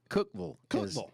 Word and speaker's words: Cookeville: Power 94.1 News Talk Cookeville Cookville as the locals say there and uh anyway